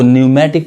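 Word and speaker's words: pneumatic: अब यहाँ देखिए इसको भी हम पी नहीं पढ़ेंगे, इसको न्यूमेटिक पढ़ेंगे।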